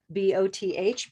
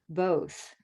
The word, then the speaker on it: both: a tricky one because it looks like bath b-o-t-h but this is a rose word both both both great and